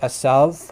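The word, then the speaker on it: עשו: from the hebrew which in hebrew it's pronounced asav which in modern hebrew asav but in biblical times it probably would have had very similar pronunciation to arabic um you know the the kind of like the guttural first letter the ira sound which is kind of hard to produce um but it's a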